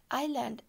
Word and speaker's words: island: all the sides ireland s is silent island an island means a